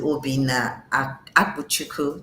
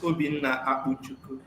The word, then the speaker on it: Obinna Akpuchukwu: we go over to Obina Abuchu. Did I pronounce it properly? You tried. You tried almost. Okay. Yes. Well, uh, thank you very much, Zini. My name is Obin Auku.